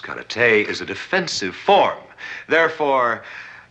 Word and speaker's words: karate: on you your mistake cat rowdy as you call it correctly pronounced cut at a is a defensive form